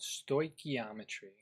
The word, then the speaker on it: stoichiometry: gonna be talking about this really hard to pronounce word this word here is called stoichiometry stoichiometry stoichiometry kind of reminds me of baking